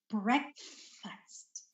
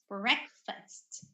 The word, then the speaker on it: breakfast: but it should be breakfast breakfast and the T make sure that you pronounce the terminal T sound so breakfast okay all